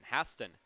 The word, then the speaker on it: Haston: and embarrass myself on whether it was Brandon Haston or Brandon Haston, but it's Brandon Haston, and I have him to thank for that.